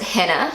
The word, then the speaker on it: Hanna: And so this is how Google Translate pronounces it. Hanna. And in New Zealand we would pronounce it Hanna, so it's just a little bit different, but I would still